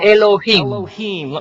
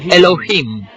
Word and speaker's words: Elohim: Se pronuncia Elohim. Repitan Elohim.